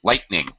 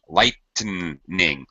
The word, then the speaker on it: lightning: lightning lightning two syllables lightning lightning yeah okay you may hear okay all right interesting question lightning supposed to be really two syllables you will hear many